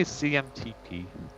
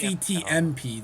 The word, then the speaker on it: CTMP: Did you just say CMTP? Is that how you say it? Canadian? Yeah, no, it's CMTP. It's CTMP. There's no first M.